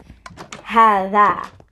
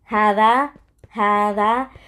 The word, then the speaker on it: هذا: So هذا, I know it's pronounced like ha, dhal, and then alif, like, but it's pronounced like ha, alif, dhal, alif. So هذا, you know what I'm saying? هذا.